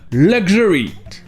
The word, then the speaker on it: luxury: Ou encore dans le mot luxury, le luxe, le X se prononce gj, luxury.